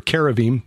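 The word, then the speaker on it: כרובים: And when you look at the cherubim or caravim, the Hebrews pronounce it, or the Israelis pronounce it that way, it's pretty clear from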